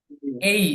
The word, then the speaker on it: A: সেটা হচ্ছে এই, আমরা এ বলবো না, এই, এই, A. এই, জি।